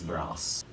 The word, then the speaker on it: brass: And the material of the bridge, I believe, is brass. I pronounced wrong in the previous video, so not brace, it's brass.